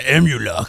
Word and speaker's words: Amhuluk: Oh, yeah, Amhuluk. That's how you pronounce it.